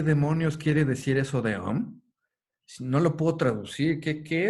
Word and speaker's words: Om: Bueno, entonces, Om, que estrictamente no es O y M, es la sílaba O con un sonido de nasalización, ¿no?